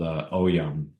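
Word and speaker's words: Ogham: But there's an ancient Gaelic dialect called Oyam, is how you pronounce it.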